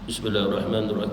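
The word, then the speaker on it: بسم الله الرحمن الرحيم: Bismillahirrahmanirrahim, baca dengan tajwid, baca dengan syaddah. Jangan baca nak laju-laju. Bismillahirrahmanirrahim, Bismillahirrahmanirrahim, dia takkan dapat. Syaddahnya Bismillahirrahmanirrahim, 3 syaddah.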